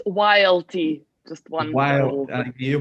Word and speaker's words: YLT: It's YLT, just one While little, you yeah. pronounce it It's YLT.